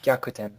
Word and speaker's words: Gyakuten: Gyakuten. Yeah, thank you. Gyakutan.